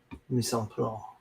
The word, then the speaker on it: mise en place: Mise en place. Personal chef. No, you have to pronounce the CE in French. It's Mise en Place.